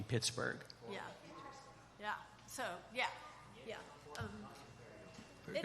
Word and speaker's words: Pittsburgh: So probably the first pronunciation of this was Pittsburgh. And then later on, it became Pittsburgh.